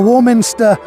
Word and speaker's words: Warminster: town of Warminster uh Warminster um to the best of my knowledge pronounced as it is written which makes it something of a rarity among English towns you know it's not uh it's not ramster or or anything like that it's it's Warminster and